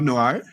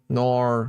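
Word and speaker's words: Noer: saying it wrong no it's it's n o e r yeah yeah it's like the way um Australians say no yep no nor nor nor oror that's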